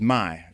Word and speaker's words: Mai: but I, you know, my last name is my, you know, M AI, but it's pronounced like my Y, right?